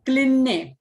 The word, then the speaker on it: क्लिन्ने: कामेश्वरी भगमालिनी नित्य क्लिन्ने, क आधा और ल पूरा, क्ली और डबल न, क्लिन्ने, क्लिन के साथ न ले लेने का और फिर पूरा न, पूरा ने, नित्य क्लिन्ने भेरुंडे वह